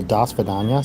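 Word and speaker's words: до свидания: loud or out loud in Russian the O's and the A's are reversed randomly in random words like for example, dasvidaniya sounds like D A, but it's spelled D O in in their in their Cyrillic alphabet.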